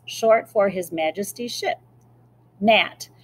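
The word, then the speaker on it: Gnat: for His Majesty's ship NAT so the G is silent like other gunboats the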